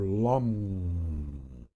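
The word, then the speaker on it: lam: the base chakra it would be l-a-m or lum and if you have the beneath the dantian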